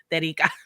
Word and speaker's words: Terika: note, you know that the only way I know how to pronounce her name is in Spanish, and it comes out perfectly. Terika.